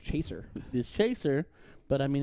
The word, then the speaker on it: Cheshier: cat which is weird because his name actually pronounced Chaser the Chaser but I mean it looks like